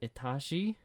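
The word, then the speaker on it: Этажи: said we're gonna listen to this it is pronounced atashi but it means floors by the band multnomah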